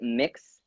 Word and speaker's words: Mx: gonna break it down so mix for anyone who does not know is pronounced as an M IX is mixed like mix you like a cake speaking of which I